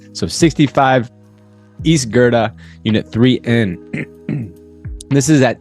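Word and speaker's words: Goethe: Unit 3N, and no, that is not Goth Street. I used to think when I first moved to Chicago, that's how it's pronounced. It's pronounced Gerda. So 65 East Gerda, Unit 3N.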